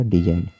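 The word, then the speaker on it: design: पहले जी आए तो, यदि एन से पहले जी आए तो जी साइलेंट होता है। जैसे कि डिजाइन, डिजाइन में क्या है कि एन से पहले जी आया हुआ है, तो यहाँ पर जी साइलेंट होगा, तो इसको क्या पढ़ा जाएगा, डिजाइन।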